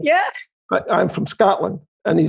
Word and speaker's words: Scotland: I said, "Scotland," because you have to pronounce the A as a not O. Yeah. But I'm from Scotland.